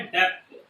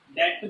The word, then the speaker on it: debt: अच्छा, non current liabilities का दूसरा नाम होता है लॉन्ग टर्म लायबिलिटीज, यानी कि इसका नाम होता है डेप्ट। क्या होता है, डेट बोलते हैं, बी साइलेंट।